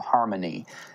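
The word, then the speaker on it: HarmoKnee: California there's one called Harmony it's it's uh harmo and k-n-e-e so it sounds like Harmony but it's spelled that way so there's a number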